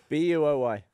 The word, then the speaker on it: buoy: How do you pronounce it? Boy. Boy. Yeah, that's weird. And someone was like, "It's pronounced buoy," and I was like, "I mean, yeah, in some places, but not everywhere."